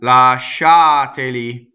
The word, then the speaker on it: lasciateli: Going on, lasciateli. So the accent is on the sha. This is the strong accent of the word syllable. So the E is going to be closed.